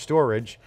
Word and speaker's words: Storj: Storj, pronounced Storage.